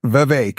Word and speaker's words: Vivek: I'm not like a picky, pronunciation corrector, but yeah, Vivek like cake. Yeah. Vivek.